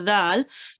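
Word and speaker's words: دال: you say say the Dal could you pronounce it up it's tiny bit softer so touch your tongue with your upper teeth and then say there yeah wait well done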